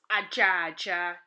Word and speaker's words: aja: Let's look at brown, an ocha known as aja in Igbo. Let us spell it.